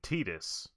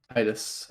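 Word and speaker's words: Tidus: uh remaster for switch apparently they're saying titus which i really don't agree with i think it should be titus it's titus whatever i never played the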